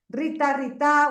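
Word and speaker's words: ऋत: Y Rita, que ya hablaremos lo que es Rita, bueno, no sé si se pronuncia igual, Rita, bueno, ahora lo hablaremos, es RTA. Sí, Rita.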